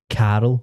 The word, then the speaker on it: Carl: There was a guy on the TV and he was called Carol, like C-A-R. I couldn't spell that. C-A-R-L. But she was like, "You're saying Carol." Like, Aye. well, I know, but I was like, that's just how Scottish people say it.